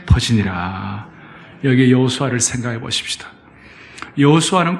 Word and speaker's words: 여호수아: 여호수아는 구약의 히브리어식 발음으로는 여호수아고 신약의 헬라식 발음으로는 예수 예수님입니다.